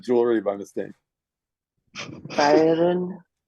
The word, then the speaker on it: feiern: Feiern. Feiern. Sounds like fire.